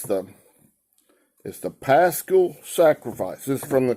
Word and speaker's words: Pascha: Yeah, the pronunciation's P-A-S with that kind of apostrophe looking thing after it. Hyphen K-H-A-H. Kind of like a guttural sound thing.